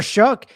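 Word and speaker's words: Shough: And Tyler there's Tyler Shook. It's shook by the way.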